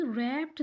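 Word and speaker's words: wrap: अब रैप में भी आप देख सकते हैं कि डब्ल्यू जो है वो साइलेंट है और रिस्ट में भी डब्ल्यू साइलेंट है। रैप्ड इसमें भी डब्ल्यू की साउंड नहीं आ रही और रिस्ट में भी डब्ल्यू की साउंड नहीं आ रही, ये दोनों साइलेंट लेटर हैं।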